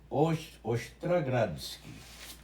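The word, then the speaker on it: Ostrogradsky: Aí depois o primeiro, o que ia fazer a forma geral foi um ucraniano chamado Ostragradsky. Olhei a pronúncia assim, Ostragradsky, sobe do Os para o Tra.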